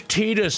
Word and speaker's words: Tidus: Yeah, it's Titus. It sounds so much cooler, man. His name is Tetus. Oh, would you like soy milk with that pronunciation?